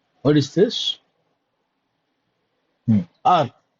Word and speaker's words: ARP: ARP. ARP is what you pronounce, that is right. But in industry, they don't call it as ERP, they call it as ARP.